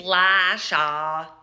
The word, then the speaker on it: Lasha: That way, I don't have to explain that the Y is silent and it's actually Lesya. Okay? It's Lasha, L-A-S-H-A, R-O-J-E-N-K-O.